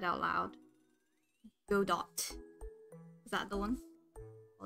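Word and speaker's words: Godot: Oh, it's pronounced Godo.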